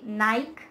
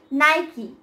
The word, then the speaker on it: Nike: And I've heard a lot of people say Nike, but it is not Nike. It's Nike. Nike.